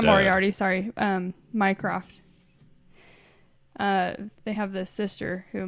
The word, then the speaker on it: Mycroft: You just said Minecraft. Oh, sorry. Like Minecraft. Well, how do you pronounce his name? Well, it's Mycroft.